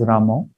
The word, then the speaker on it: Rama: is pronounced as krishna that o is a little prominent in those who speak native bengali so if naturally they are inclined to pronounce krsna's krishna or rama as ramo there is no mistake considered in their chanting but if somebody who's